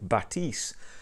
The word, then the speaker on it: Bathys: course are the focal French company so French pronunciation for Carl batis and these are for Cal's